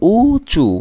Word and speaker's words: উঁচু: ওকে, উঁচু, উঁচু দেখো, এটাও কিন্তু উঁচু, বাট উঁচুতে একটু এরকম হবে, উঁচু, মানে উপরে চন্দ্রবিন্দু আছে, এটা বুঝতে হবে।